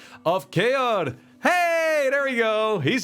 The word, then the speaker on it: Keor: I love it with the hard R. I don't say it to myself that often, so I guess it's free to interpret. That was actually, yeah, that's